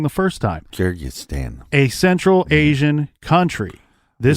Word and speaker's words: Kyrgyzstan: So he got a wife named Larissa from Kyrgyzstan. Don't make me say that again because I said it wrong the first time. Kyrgyzstan.